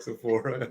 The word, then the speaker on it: Sephora: Is that right, Sephora?